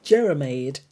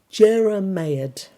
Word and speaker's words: jeremiad: You can pronounce that. I think it's Jeremiad. Jeremiad.